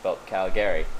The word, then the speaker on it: Calgary: toronto yeah okay yeah or calgary it's calgary you don't see the gary at the end so calgary you know shortly yeah